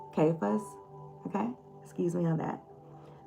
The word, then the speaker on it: Caiaphas: Y'all can't pronounce that. But it's Caiaphas. And I'm going to pronounce that as Caiaphas.